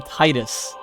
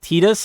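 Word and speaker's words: Tidus: to call FFX I used to call him Titus until I played this Cydia and I found out that his name is pronounced Titus and I lost it I'm never calling him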